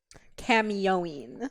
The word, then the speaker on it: Camyoin: what is your gamertag again how do you pronounce it cameoine so c-a-m-y-o-i-n and well how did that come